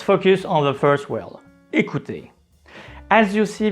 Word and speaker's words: écouter: Let's focus on the first word, écouter. As you see, there is an accent on E, so the sound is E. And C is between two vowels, so we need to pronounce it as K.